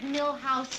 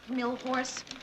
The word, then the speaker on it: Milhous: Grant asked me to remind you it's Richard Milhouse Nixon, not Milhorse.